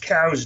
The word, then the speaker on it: Coues: And for those people who are watching that think, Midwest whitetail, no, these are Coues deer, or properly pronounced cows deer, but they're about